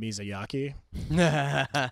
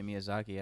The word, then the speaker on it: Miyazaki: Adam is I used to intentionally mispronounce his name Mizyaki like for years and years he thought I just couldn't do I always think I always say Miyazaki. I always feel like I'm pronouncing it wrong. No, but that's what it's supposed to be right.